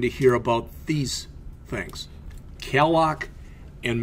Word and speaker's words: calloc: Calloc is a little faster, malloc is a little cleaner.